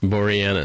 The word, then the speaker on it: Boreanaz: Boreanaz.